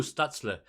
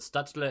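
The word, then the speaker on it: Stützle: goes through stutzler and i do not know if that is the right way to pronounce it i've heard it said a bunch of different ways but stutzla is the way i was led to believe just absolutely digs around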